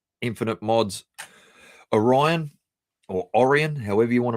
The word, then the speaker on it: Orion: So, anyway, this is I said the Orion, like as in I I pronounce it Orion, like as in Orion's Belt, the constellation.